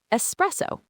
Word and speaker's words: espresso: Remember, it starts with an S. Repeat after us. S press O. Again, with the stress in the middle. Express. Great. Now at a normal conversational speed. Espresso.